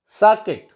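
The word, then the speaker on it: circuit: Letter है वो silent होता है, उसका कोई pronunciation नहीं होता. For example, biscuit. It is not biscuit और बिस्किट. इट इज बिस्किट. सर्किट.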